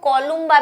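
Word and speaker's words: Columba: कई जगह इनको कोलुम्बा भी लिखा हुआ है, पर क्या है, हमारे जैसे मैम है, उन्होंने हमें कोलंबा ही प्रोनाउंस करना सिखाया तो हमने कोलंबा ही सीखा क्योंकि LU आता है।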